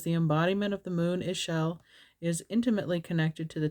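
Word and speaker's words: Ixchel: And it is pronounced Ishel or Ishel.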